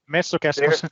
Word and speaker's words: Messukeskus: Messukeskus.